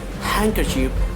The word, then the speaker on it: handkerchief: We have to silent the letter D. So you cannot say like Wednesday, you cannot say handsome, you cannot say handkerchief, you cannot say sandwich, but correct pronunciation will come. The certain rule is that Wednesday, handsome, handkerchief, and sandwich. So now just move for the silent E.